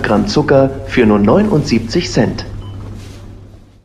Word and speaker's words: Cent: ini bacanya cent ya, bukan Oh, sen.